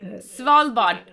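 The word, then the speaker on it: Svalbard: Um, that left from S Swave Suave or I can't pronounce it but in the higher Norway. Swallbot.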